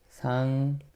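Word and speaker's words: 상견례: 자, 이거 발음 어떻게해요? 상견예라고 합니다. 오, 니은 플러스 니은이 됐네. 이게 유화의 예외입니다.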